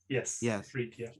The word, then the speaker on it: Ifrit: He thinks that these 72 are I hope I'm pronouncing this correctly, the Ifrit. They're like, is that how you say it? Yes. Ifrit, yeah.